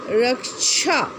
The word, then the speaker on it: रक्षा: उदाहरण के लिए रक्षा शब्द का उच्चारण रूप क्या होगा? र अ, र छ आ, छा, रक्षा, ठीक है।